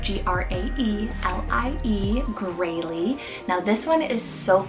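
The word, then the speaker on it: Graelie: We then have Grayley, spelled G-R-A-E-L-I-E, Grayley.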